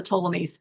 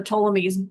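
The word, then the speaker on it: Ptolemies: the last of the tolamies. I say it's hard to pronounce because it starts with a P, but it's pronounced with a T.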